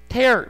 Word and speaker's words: tear: tear라는 명사가 동사로 쓸 때는 이렇게 tear 발음하고 torn 그 다음에 죄송합니다